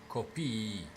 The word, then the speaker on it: copii: For the copy word, as in copy paste, it's just pronounced copy. While the children, as in emphasizing the children, is copii.